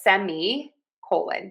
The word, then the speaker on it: semicolon: I'm going to teach you today a semicolon. Semicolon semicolon semicolon. The key here is stress syllable number one.